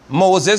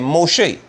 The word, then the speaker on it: Moshe: Look at what Yahweh said to Israel, to Moshe and Aaron. Look at this. And spoke Yahweh to Moses. His name is Moshe.